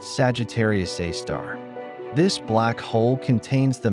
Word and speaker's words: Sagittarius A*: At the exact center of the Milky Way, astronomers discovered a dark titan, a supermassive black hole known as Sagittarius A*, pronounced Sagittarius A star.